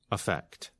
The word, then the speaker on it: effect: When we are speaking quickly, the first vowel of the noun effect is reduced to the quick uh sound. Effect, which is the same sound as the verb.